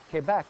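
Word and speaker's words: Québec: that's why it's Quebec it is a French word and it is pronounced Quebec in fren now the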